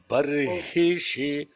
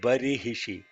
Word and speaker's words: बर्हिषि: Barhishi, not barihishi. Barhishi. Barihishi. Okay. Tai Yajnam Barihi Ship. See, uncle, please say that. Barihishi. Barhishi. So the syllables are ba, irhi, irhi, shi.